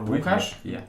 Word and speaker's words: Łukasz: And today I'm going to speak with or Łukasz in Polish. Łukasz in Polish, but it's Yes. easier to pronounce for all the foreign people as.